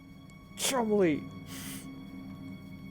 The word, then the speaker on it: Cholmondeley: Chumley!